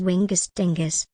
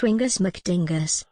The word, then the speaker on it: Wingus McDingus: Stop mispronouncing my name as Wingus Dingus. It's Wingus McDingus.